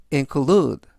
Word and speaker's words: include: 뜻이 되겠습니다 이번 단어는 include inclued 라고 발음하시면 되겠고요 이때 강세는 알파벳 ue의 강세가 있고요 품사는 동사 뜻은 포함하다라는